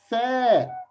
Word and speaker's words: ث: dots three three fair keep your tongue out your teeth while you pronounce fair its name is fair accent okay